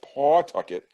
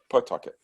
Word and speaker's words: Pawtucket: being in pawtucket and it's spelled pawtucket but it said pawtucket so um after 50